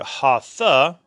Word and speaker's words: Hatha: Hatha Yoga, again, are the Hindu devotional postures, and the very meaning of the Sanskrit Hindu word Hatha, it's two syllables, Ha and Tha.